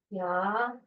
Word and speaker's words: Yahweh: So when pronounced without intervening vowels, it actually sounds like breathing. Yahweh.